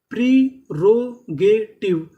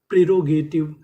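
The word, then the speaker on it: prerogative: अगर आपको इंग्लिश के किसी भी मीनिंग के आखिरी में इ लिखा मिले तो हम लोग इ का उच्चारण नहीं करते।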